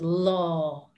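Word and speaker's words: lá: really good and the word for day is law law el a with an accent law and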